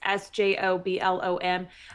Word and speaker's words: Sjöblom: Anna Sjöblom, I believe, is how you pronounce her last name. It's Sjoblom.